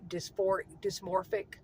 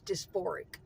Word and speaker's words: dysphoric: I always pronounce it wrong. I always say dysmorphic. It's dysphoric.